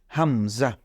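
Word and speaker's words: همزة: এরপরে আবার নিচে নেমে এসেছে এটাকে আমরা বলব হামজা এটার নাম হলো হামজা এরপরে আমরা আরেকটি যেটা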